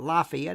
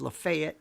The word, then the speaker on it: Lafayette: Houston and uh enough in Florida it's not Lafayette it's Lafayette you know how it you know how it